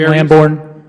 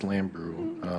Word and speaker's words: Lambrew: meetings is it gene lambourn gene lamborn uh i believe her name is pronounced lambrew okay there there were